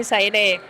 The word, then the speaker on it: Xayree: que contentar a todo el mundo, y a Shaire, siempre dudo de cómo pronunciarlo, Shaire. Sí, Shaire.